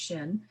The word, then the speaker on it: Shin: This Hebrew number 21, Shin, it's pronounced Shin, is associated with Uranus, and in Western astrology, we already know that this planet is making its huge debut.